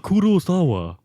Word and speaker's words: Kurosawa: Akira Kurosawa. That's how you would say it. That's actually how you pronounce it.